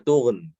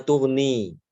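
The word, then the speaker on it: تغن: Ketika berhenti fama tughn. Bukan fama tughni. Ya, bukan fama tughni, tapi tughn.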